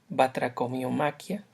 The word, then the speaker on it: Batracomiomaquia: Trataré de hablar ahora de la batracomiomaquia o batracomiomaquia. Generalmente la encontramos sin el acento en la i, batracomiomaquia, y el nombre pues